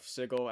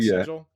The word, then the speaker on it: sigil: Sigle. What is it actually called? Like sigil. Is that how you say it? Yeah, it's a sig. It's It's the sigil. Yeah.